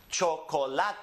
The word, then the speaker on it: chocolate: Chocolate. Yeah, this is Spanish. Chocolate. Because it ends with a vowel, it's the next to last syllable that's emphasized.